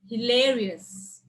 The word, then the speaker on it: hilarious: more than two syllables there are four syllables then where will you stress on the second one second one from the left anonymous carnivorous luxurious hilarious continuous and cost and